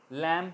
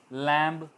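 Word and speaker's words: lamb: इस तरह लैम, भेड़, भेड़ का बच्चा, लैम कहेंगे, लैम्ब नहीं कहेंगे, बी साइलेंट रहेगा।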